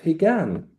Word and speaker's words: Higan: Katsu Kyokai was the traditional Buddhist festival of Higan. Yeah. the um have I pronounced it correctly again?